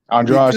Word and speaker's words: Andrade: Andrade too.